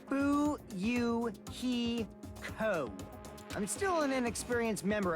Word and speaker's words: Fuyuhiko: last name is my first name is pronounced boo you he Co I'm still an inexperienced member of my family's